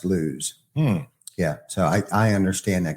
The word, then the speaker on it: Lewes: there building houses, but now everybody calls it Lewis. Weird. But it's actually pronounced Lewes.